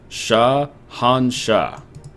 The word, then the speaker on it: Shahanshah: How do you pronounce that? Shahanshah. Yep, there it is.